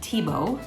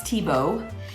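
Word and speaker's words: Thiebaud: my very favorite artist named Wayne Tebow that's how you say it even though it's spelled thei bald but it's Tebow um and he is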